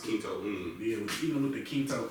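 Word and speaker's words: Kinto'un: You said it's called the how you pronounce it? Kinto Un.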